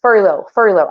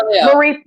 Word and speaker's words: Forleo: If this, so Marley Furlow. I'm saying her name wrong, but she is, Oh, Marie yes, Forleo. Marie Furlow said, and I know I said her name wrong again.